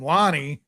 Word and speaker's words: Loner: Wes called him, but his name looks like Loner Kavanagh. Yeah, that's what I called him, Loner. I think Brad called it, or Sean called him Lonnie. It's allegedly how you pronounce it. There's no fucking way. I don't. You don't spell it like Lonnie. Yeah, you don't spell Lonnie like that.